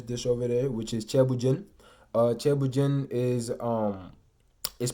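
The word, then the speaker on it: ceebu jën: So I will introduce the most famous dish over there, which is chebujin is pronounced cheb, bu jin.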